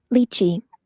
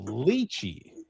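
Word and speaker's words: lychee: So, here we go with the pronunciation. I'm going to click on it. Liy. Did you hear that? Liy. Liy. So, luchi is how it's a small tropical fruit with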